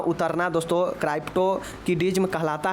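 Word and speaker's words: cryptorchidism: क्राइप्टोकिडिज्म। जी हाँ दोस्तों, क्राइप्टोकिडिज्म। तो ध्यान रखिएगा, इसको स्पेलिंग देख लीजिए, CRPTORCHIDISM।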